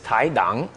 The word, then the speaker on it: Tai Dang: Well, you know, my name is a Chinese last name, so like true pronunciation is Tai Dang, but everyone's Dang, so Tai Dang.